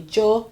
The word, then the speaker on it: yo: Joe Jo Jo okay this one depending on where you are the pronunciation be different so if you say yo it's okay if you say Joe it's okay if you say sh it's okay if you say it's